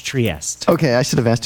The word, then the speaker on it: Trieste: Trieste in Italian or in English Trieste.